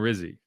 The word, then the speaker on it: Rizzi: next Saints head coach has a name that rhymes with fizzy. As Cam Jordan indicated, it also rhymes with Drizzy and with Pizzy. Yeah. So anyway, yeah. Okay. Alvin Kamara is a Darren Rizzi guy, and he made that clear.